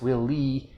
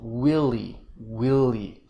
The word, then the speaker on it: Willie: name willie um but she said both syllables with equal stress will lee which sound sounds like we'll lead like she was echoing my question so i said who will lead the meeting okay willie clear stress on the first syllable willy willy it's important for making